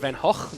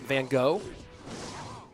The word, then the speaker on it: Van Gogh: I know it's pronounced Van Hawk, not Van Gogh.